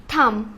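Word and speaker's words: thumb: বম্ব বুঝছি বোম বম্ব না বম আচ্ছা তারপর থাম টি এইচ ইউ এম বি থাম হুম আই সি বি টা কি সাইলেন্ট হ্যাঁ বি টা হবে না না এই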